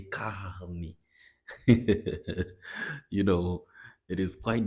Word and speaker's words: carne: I say carne, carne, carne. I can't, in some way, I just can't pronounce the R in the middle of this word. And Brazilians actually pronounce this word, Brazilians from the south of Brazil pronounce this word as carne, carne. The R is very visible.